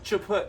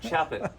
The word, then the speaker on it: Chaput: Oh, Chaput. No, Chaput. Chaput. Chaput. If I were a hockey puck, you would slap it.